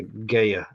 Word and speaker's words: Gaia: Is it Gaia or Gaia? I say it. I say Gaia. Gaia. Okay, it's Gaia. GAI. I guess the AI makes it GAIA. I. Okay, Guy. Yeah. Gaia.